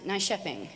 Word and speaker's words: Nyköping: So anyway, we were in Stockholm, and then went to Helsingborg, a little place that looked like on our sheet when we wrote out Nykoping, and it's pronounced Nyköping.